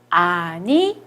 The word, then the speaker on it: animaux: 아니모라고 발음합니다. 아니모. 왜 그러냐면 요 X가 O로 발음이 나거든요. 그래서 아니모라고 발음을 하는 거예요.